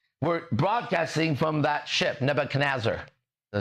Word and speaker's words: Nebuchadnezzar: Right now, we're broadcasting from the Nebuchadnezzar.